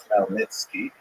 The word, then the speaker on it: Khmelnytsky: And it's sometimes spelled in Roman characters with the Polish spelling, making it look something like Khmelnytsky. It's actually pronounced Khmelnytsky with a guttural at the beginning.